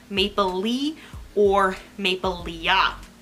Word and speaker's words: Maplelea: the F so it's Maple Leaf like you're about to say leaf and you don't um the I've heard just the a is silent think about you know the a just not being there um so Maple Le